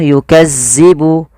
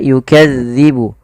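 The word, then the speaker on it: يكذب: Hati-hati teman-teman di lafal melafalkan huruf zal. Dzal ini tidak boleh dibaca atau tidak boleh diganti dengan huruf zai. Contoh yukazzibu. Yukazzibu tidak. Tapi dia yukadzibu yukadzibu yukadzibu bihal mujrimun.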